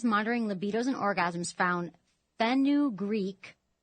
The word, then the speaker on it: fenugreek: Researchers monitoring libidos and orgasms found fenugreek, it's spelled Fenu Greek, Greek, boosted male sex drive by at least a quarter.